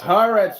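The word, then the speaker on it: Haaretz: Israeli publication is the news is news it's pronounced haret you idiot that's what I told him haret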